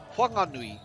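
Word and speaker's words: Whanganui: Huanganui.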